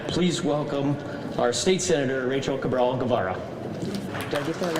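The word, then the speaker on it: Rachael Cabral-Guevara: Now, please welcome our state senator, Rachel Cabral Gavara.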